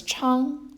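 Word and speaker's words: 昌: then seal the contour up this one is pronounced as Cheung it means prosper if you work from when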